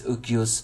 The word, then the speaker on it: Ukyo: That is Ukyo's specialty. And yeah, Ukyo was the man on the council. I said his name wrong if I said Yo.